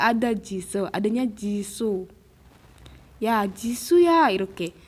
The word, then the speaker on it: Jisoo: Ya, Jisoo ya, 이렇게. Jisoo. SOO. Paham ya? Misalnya, kalau bahasa Inggris juga namanya Me Too, ya, Me Too itu O-nya double kan? Iya kan? O-nya double, bacanya Me Too.